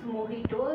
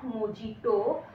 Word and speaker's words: mojito: ভিডিওর সূত্রপাত fresh মহিটো this is মহিটো this is নট মোজিটো because মহিটো ইজ a Mexican drink আর মেক্সিকোরা যে এর উচ্চারণটা এইচ দিয়ে করে সো মজিটো বানানো হইলে ইটস মহিটো ওকে আর এটা বেশ লেবু